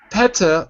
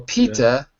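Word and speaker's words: PETA: now its own word so pata or pita depending on how you say it does anyone know what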